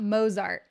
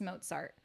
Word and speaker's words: Mozart: to know this too okay it is not mosart it is not Mozart do never say mosart